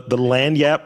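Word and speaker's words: lagniappe: So I want to move into the quick fire, and I'm going to mispronounce a word because I have trouble with some of these words. The lanyap portion of the podcast.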